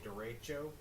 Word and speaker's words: derecho: A VOECO may develop and produce a derecho, it can be pronounced either way, with peak gusts 80 to 100 mile per hour range possible.